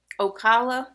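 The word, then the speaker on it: Ocala: Okala, Florida. Okala, Florida.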